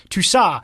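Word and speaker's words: Tousart: midfielder for lay on you probably don't pronounce the T on the end of that is my guest please don't email me according to many unofficial reports Tusa is being scouted by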